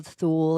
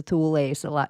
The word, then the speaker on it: Thule: And when you look into the Nazis and you look into the Thu or the Thule society, depending on what way you pronounce it, which is the veril society, when you go all into that stuff, that's all North Pole.